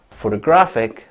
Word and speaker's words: photographic: Photographic, the third one is stressed.